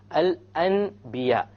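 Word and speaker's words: الأنبياء: So we don't pronounce it Al-An. We change the Noon into a Meme.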